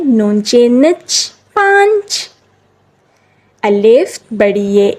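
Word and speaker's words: پانچ: अलिफ पा नचे नच पाच उर्दू में अक्सर नून साइलेंट होता है नून साइलेंट होता है तो उसके ऊपर चांद बनाया जाता है दाल वा दो ते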